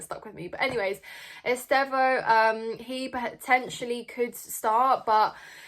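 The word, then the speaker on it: Estêvão: you if you're watching, somebody messaged me in the comments saying that Esteval's name is not pronounced Esteval and it's Estevo, I think. So I hope that's the correct pronunciation, and I promise I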